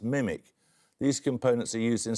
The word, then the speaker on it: MMIC: For what do the letters MM stand in the abbreviation MMIC, often pronounced mimic?